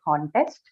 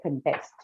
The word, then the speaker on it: contest: uh or here okay so for the first one when you use that to a noun you say contest right and if it's used as a verb you'll say contest uh similarly can we say